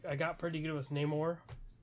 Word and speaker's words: Namor: I I got pretty good with Neymar. They still pronounce it Namore. Um, Namore, which, um, I kind of I do like the like, you know, the South American angle, though.